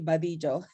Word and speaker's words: Badillo: adelio but i know in puerto rico you pronounce it differently yes um in puerto rico will be badillo right now right though as well so i